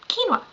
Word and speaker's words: quinoa: i just pronounce it because it is actually pronounced and that is what we're going to talk about quinoa so quinoa comes from the andean region of south america